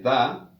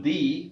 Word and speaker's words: the: La pronunciación de da, como es tal, da antes de consonante, antes de H aspirada y antes de sonido U. La pronunciación di para el artículo es antes de vocal y antes de H muda.